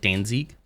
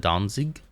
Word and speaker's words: Danzig: let the imperialism go Danzig has the emphasis on the front syllable so Dan like Danzig instead of Danzig Dan I think this